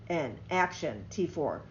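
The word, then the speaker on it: Aktion T4: Through the program, it's spelled AKTION, Action, T4.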